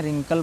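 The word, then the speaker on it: wrinkle: रिंकल लिखते हैं, रिंकल पढ़ते हैं।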